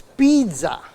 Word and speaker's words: pizza: this is one unit in Italian for example is the second last syllable that is stressed how many of you say pizza it's pizza the second last syllable that has to be stressed but if you go